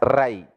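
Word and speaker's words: रै: You should pronounce as Rai, riches.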